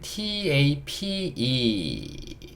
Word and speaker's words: tape: 자, 이번엔 tape. t는요 티읕, a는요 a, p는요 피읍, 프 소리, e는요 묵음.